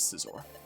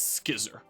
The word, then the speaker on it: Scizor: etiquette my name is cesar i'm explorer my name is most commonly known as cesar but everyone's pronouncing it incorrectly the correct pronunciation is skizzer please refer to me